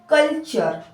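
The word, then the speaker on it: culture: टी यू आर ई कल्चर कल्चर ये पूरा का पूरा टीयू आरई जो है वो चर उनको बोला जा रहा है ठीक है सीच को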